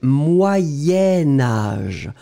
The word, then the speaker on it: Moyen-Âge: La difficulté ici, en fait, c'est que comme je vais le lier à âge, Je vais le prononcer Moyen-Âge. Moyen-Âge. Et alors, effectivement, vous écrivez moyen, vous écrivez âge, mais comme vous faites le lien entre les deux, vous allez prononcer moyenne. Moyen-Âge. D'accord?